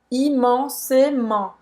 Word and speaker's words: immensément: Não é imensamente, tá? É com E. Aí esse E com acento agudo é E como se fosse fechado. Em português, o T no final não vai ser pronunciado, tá?